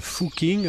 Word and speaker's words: Fucking: habitants de la commune dont le nom se prononce en fait fou king en allemand veulent en changer l'un